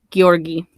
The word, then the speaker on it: Georgy: And then this person either went by Yuri or Georgy Krivonshenko, or Georgi, I think is how it would be pronounced, because they don't have, like, the J sound.